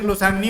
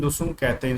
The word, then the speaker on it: लुसुंग: लोसांग नहीं, लुसुंग कहते हैं इसको, लुसुंग ऐसे लिखा जाता है इसको।